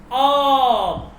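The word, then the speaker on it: آب: যেমন দেখেন, অ কি অব মানে পানি, অব মানে কি পানি, অব।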